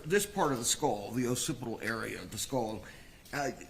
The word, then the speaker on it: occipital: The occipital fracture. Am I saying am I pronouncing that correctly?